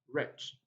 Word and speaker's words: wretch: you understand number four we have wretch right first let's say letter w here is silent but that's not our